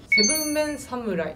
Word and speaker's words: 7 MEN 侍: いますねセブンメンサムライと読みます。